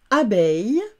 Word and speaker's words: abeille: Enfin, eil, E-I, deux L-E, eil, comme dans abeille, A, B et eil, beille.